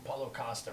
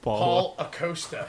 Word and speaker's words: Paulo Costa: I was explaining to him how to say his name because he keeps calling him Acosta, like his first name is Paul. Paul Acosta. His name Yeah. is Paulo Costa.